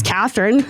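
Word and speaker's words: Kathryn: say that to well my real name is Catherine I don't know Catherine okay okay spelled like an old lady k a t h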